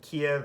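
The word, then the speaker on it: Kyiv: the is the uh all i know is keeve is the is the ukrainian pronunciation kiev is the russian pronunciation and and they prefer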